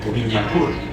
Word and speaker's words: Boulogne: el gran acueducto de Boulogne o Boulogne, como se debería pronunciar, de Boulogne, de todas las mejoras que le estaba llevando a la isla.